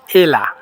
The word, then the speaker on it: Ella: শুরুতে আছে ELLA, এটার সঠিক উচ্চারণ হবে এলা, এলা।